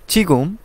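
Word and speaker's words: 지금: কোথায় অদি অদি কোথায় ছিগুম এখন ছিগুম এখন অর্থাৎ আমরা জিউদ যদি শব্দের শুরুতে বসাই তাহলে সেটা ছ এর মত উচ্চারণ হয় তাহলে আমরা এটাকে বলতে পারি ছিগুম এখন চাংসু চাংসু অর্থ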